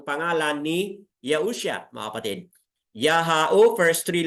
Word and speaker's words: Yahu: scripture u ha okay yung ha na yan ay bigkasin po as a kaya y plus as kaya maging ya and then followed by u or u mga kapatid yaho and then another ah a which is ha yahu a y UA o